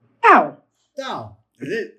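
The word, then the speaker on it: ת: It's pronounced as a tet. Interestingly enough, go back to, you also have the tet. The tet and the tau, identical pronunciations if the tau has the dot. Without the Bagat Kafat, without that Dagesh Lene dot, then it's pronounced th, them, there. It's got that th sound to it.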